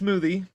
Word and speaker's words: Zmoothies: smoothie nice smoothie smoothie i'm pretty sure it's just smoothie but it's spelt with a z so smoothie that's what makes it